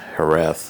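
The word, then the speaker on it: Jerez: taking a trip through Sherry herth as they correctly pronounce it and got to go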